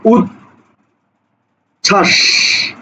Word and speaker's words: উচ্ছ্বাস: হচ্ছে ঠিক আছে ওকে এবার দেখো উচ্ছ্বাস লক্ষ্য করো শব্দটা কি উৎ ছাস উৎছাস দেখো উৎ ছয় আকার দন্ত তালব্য ছাস উচ্ছ্বাস অর্থাৎ এই জায়গাতে ব এর কোন উচ্চারণ নাই ঠিক আছে ওকে এরপরে